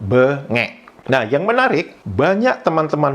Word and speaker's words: bengek: Di mana di kosakata kedua di Indonesia itu pengucapannya adalah bengek. Jadi pengucapannya huruf E pertama itu diucapkan dengan lembut, dengan lemah. Kemudian E kedua diucapkan dengan keras, bengek.